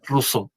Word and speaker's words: Rousseau: Rousseau. Eso se pronuncia Rousseau.